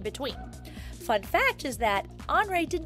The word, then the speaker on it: Henri: is andre matisse now andre is kind of a strange name to us it looks like henry but andre is how they say it in france and that is where